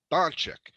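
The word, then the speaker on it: Dončić: Doncic, and they're playing against each other.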